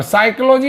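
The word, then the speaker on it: psychology: बराबर फा होता है पर साइकोलॉजी में प एस बा सी एओ ए ओजी बा में साइलेंट हो गया क्योंकि पी और एस कुछ होता ही नहीं जब पी और एस कुछ होता ही नहीं लेटर बनता ही नहीं तो हमने पी साइलेंट करना पड़ा इसलिए इसको हम बोलते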